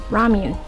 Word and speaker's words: Ramune: Ramuni. Babe, how do you pronounce this? Ramune.